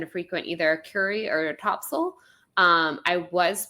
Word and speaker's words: Topsail: So I now have been corrected by true North Carolinians, and I know that it is pronounced Topsail.